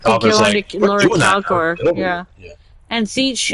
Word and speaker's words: Tzeentch: Yeah, and Tzeentch, who is hard to pronounce because his name is TZ blah blah blah blah blah. Yeah. Yeah. The T's are silent.